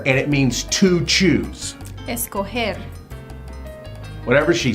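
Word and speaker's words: escoger: So, the first word we're going to memorize is escoare. And it means to choose. Escoer. Whatever she said. So, escoare sounds like it's cold there.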